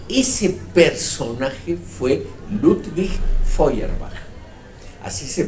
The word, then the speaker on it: Feuerbach: discutir sus ideas y ese personaje fue ludwig feuerbach así se pronuncia ese complicado apellido Cuál es la idea